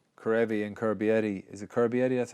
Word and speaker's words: Carbery: Is it Carbery? That's how you pronounce it.